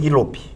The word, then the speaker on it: Gigloop: Gig Loop. Gig Loop. Gig Loop. Exatamente. Como se escreve isso?